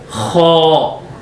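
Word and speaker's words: خ: And next letter is kha, kha. This is a heavy accent of the kha, and when you are pronouncing of this letter of kha, so you need to be open your mouth, kha, kha.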